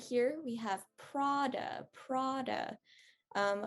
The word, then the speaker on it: Prada: right here we have prada prada um over here we're gonna have that ah sound or the aw sound and then this one